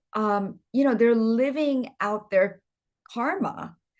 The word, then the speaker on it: karma: And I know the Western world, they pronounce it karma, but for here, we're going to say karma.